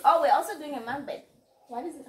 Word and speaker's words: mukbang: Oh, we're also doing a mukbang. What is it? How is it pronounced?